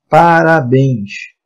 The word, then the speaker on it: parabéns: Ah, se eu colocar a palavra parabéns. Parabéns. Leva acento? Leva. Por quê? Porque é uma oxítona, última sílaba tônica, terminada em ens.